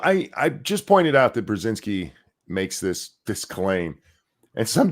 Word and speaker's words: Brzezinski: Brzezinski. There you go. That's how you say it.